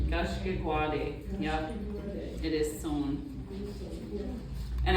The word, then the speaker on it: Gashkigwaade: How do you pronounce that? Gashkigwaade. Gashkigwaade. Gashkigwaade.